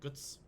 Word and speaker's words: Götz: calls him guts guts it's g-o with the um loud over it TZ and that's pronounced like guts if they've clicked this